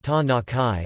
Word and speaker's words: Tanakh: The Hebrew Bible, also called the Tanakh, Tanakh, pronounced Tanakhai or Tanakh, also Tanakh, Tanakh, Tanakh,